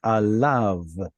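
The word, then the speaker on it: עליו: Be sure not to pronounce that yod right there, right? Alav.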